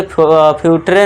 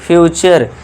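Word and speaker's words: future: पढ़िए fourth rule देखिए जब वर्ड के लास्ट में यू आर इ आए तो यू आर इ को आपको अर से पढ़ना है। यह ध्यान देने वाली बात है। ठीक है दोस्तों? इसे क्या पढ़ेंगे? नेचर नटरे नहीं पढ़ना है। नेचर इस तरह से फ्यूटरे नहीं फ्यूचर। यही ध्यान इसी में ज्यादा गलती होती है दोस्तों।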